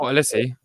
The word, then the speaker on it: Olise: Michael Olise.